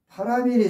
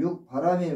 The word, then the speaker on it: 바라밀: 보살행의 구체적인 실천 항목으로 6파라밀이 세워졌습니다. 6파라밀. 6파라밀. 이 파를 또 바로 발음하기도 합니다. 그래서 6파라밀, 6바라밀 그러는데 6가지 바라밀이라는 뜻입니다.